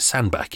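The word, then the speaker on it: Sandbach: Kelly born hiccups in sand batch in Cheshire you can pronounce it sand back if you like as well question number three how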